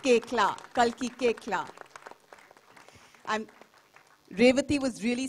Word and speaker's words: Koechlin: It's pronounced Koechlin.